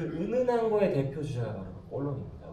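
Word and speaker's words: Cologne: 그 도시를 프랑스 말로 발음하면 꼴론입니다.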